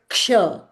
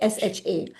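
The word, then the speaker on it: क्ष: Like "Ksha", K S H A. This alphabet that's a beautifully written alphabet in Devanagari. It's not "Sha". So if you pronounce "Sha", you'll take a certain time. If you pronounce "Ksha", you'll take fraction of a little more time.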